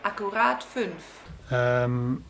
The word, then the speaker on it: Akkurat 5: So there you go, Vincent Akkurat 5, which should be pronounced Akkurat 5.